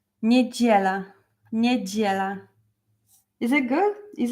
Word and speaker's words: Niedziela: I know it's hard to pronounce like sound G, but try to concentrate like G. Niedziela.